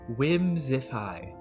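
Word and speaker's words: Whimsiphae: the lore says whimsic whimsify that's how it's pronounced but it's spelled w-h-i-m-s-i-p-h-a-e whimsify well cool I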